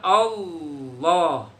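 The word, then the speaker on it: الله: Pak Guru ulang, jangan sampai kalian membaca lafaz Allah menggunakan huruf waw. Allah. Kalau udah dengar Allah itu salah tuh. Dijamin salah membacanya. Apa itu Allah pakai A W L O H, Allah. Jangan. Tetap kita baca Allah. Begitu ya. Allah. Nah, itu namanya tafhim, tebel, beratin kalau bisa. Tahan, kuasain rongga mulutnya, penuhin dengan huruf L tadi.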